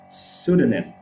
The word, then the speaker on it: pseudonym: psychology right it's psychology pseudonym right we don't say pseudonym there is no p at the beginning the p is just completely dropped off that's the greek influence